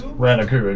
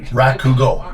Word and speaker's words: Rakugo: Now, I'm going to mispronounce it, and I do apologize, but what is Ranaku exactly? Rakugo.